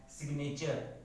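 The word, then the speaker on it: signature: सिग्नेचर, जहाँ जी एन से पहले आ रहा है लेकिन साइलेंट नहीं है।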